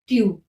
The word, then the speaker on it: tu: ज फिर क्या है ट्यू इसको प्रोनाउंस करते हैं टू इसका मीनिंग होता है